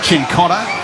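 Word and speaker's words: Cincotta: to Center Wing yeah a little adjustment on the pronunciation between week one and week two of pre-season chin cotta as alerted two by the Carlton football club is the correct pronunciation silvani here Harford plank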